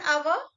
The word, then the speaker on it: hour: Hour, though letter is consonant, first letter is consonant, H is silent, sound start with A sound and hour.